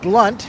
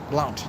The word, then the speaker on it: Blount: DW Blunt, or Blount, not Blunt. I think I said it right.